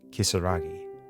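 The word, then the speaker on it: きさらぎ: Kisaragi station which is spelled using the kanji for devil but is pronounced Kisaragi I don't know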